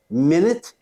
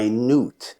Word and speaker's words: minute: popular and respected ruler number seven pronounced differently minute and minute minute is a unit of time 60 seconds minute is something very small or very precise a minute can last